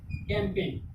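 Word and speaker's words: campaign: यहाँ पे क्या आया, जी के बाद एन आया, जी के बाद जब एन आया तो जी का क्या हो जाएगा, साइलेंट हो जाएगा। जी क्या हो जाएगा, साइलेंट हो जाएगा, यानी कि कैंपेन।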